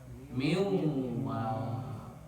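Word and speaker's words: من واق: Karena ini dua kata maka cara baca nun matinya harus idgam bigunah. Leb disertai dengan deng dengung. itu idgamunah itu idgham itu lebur. Jadi dihilangkan dileburkan bunyi nunnya disertai gunah dengung dari ke hidung suaranya miwa.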